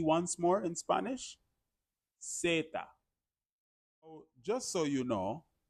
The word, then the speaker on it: zeta: The letter Z in Spanish is zeta. Zeta. Now notice, in English we say Z. Very, very deep, very profound. In Spanish, the letter Z or zeta sounds almost more like an S starts it, right?